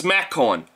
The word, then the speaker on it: McCowan: It says TimMcCowan, but it's actually, oh, I guess it's MacCowan.